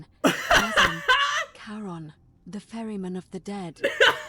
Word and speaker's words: Charon: That's a mighty It's just Karen. as you That's described exactly what she Only looked like. Your pronunciation is a little off. The name you heard wasn't Karen. It was C-H-A-R-O-N. As in Charon, the ferryman of the dead.